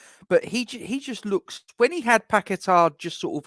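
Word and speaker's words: Paquetá: So, but yeah, I think that Scamacca is better with Paqueta in the team, and that is how it's pronounced, Duke. Paqueta, Paqueta.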